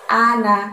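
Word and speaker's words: أنا: Terus setelah wala ada lafadz ana, a-nya buka lebar mulutnya, ana, na-nya pendek ya. Meskipun di tulisannya ada alifnya, tapi kita bacanya pendek.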